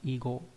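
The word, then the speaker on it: 囲碁: Và trong từ đặc biệt nó đọc là igo, vi kỳ là cờ vây.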